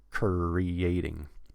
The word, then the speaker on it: creating: after the r Curry so hold on to the arc and then when you're finished with it then actually push it out of your mouth creating re re re-creating do this in slow